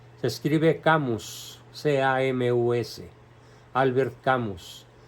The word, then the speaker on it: Camus: Se escribe Camus, C-A-M-U-S, Albert Camus, pronunciación Albert Camus, porque es francés.